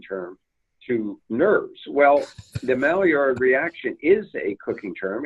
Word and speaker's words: Maillard: Center number two the Maillard reaction and I get criticized in that pronunciation by the way it's a French word means new you but